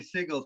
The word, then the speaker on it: Siegel: Why am I saying Siegel? Is that his last name? Am I screwing that up? Yeah. Yeah, I think that's how you say it. I know how it's spelled. I just don't know how to say it. Yeah, no, that's totally right.